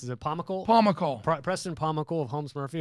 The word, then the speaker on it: Pomykal: But so Preston, and how do you pronounce it? Is it Pomykal? Pomykal.